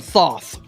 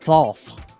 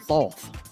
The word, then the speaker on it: Thoth: Lord Thoth. I'm sorry, I said that wrong. I got to remember. I got to talk like Dusty Rhodes when I say his name. Lord Thoth. That's right, Lord Thoth.